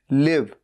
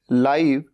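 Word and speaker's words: live: लाइव चल रहा है भले ही इसकी स्पेलिंग भी सेम है लेकिन बोलने का तरीका अलग है लाइव एल ई ए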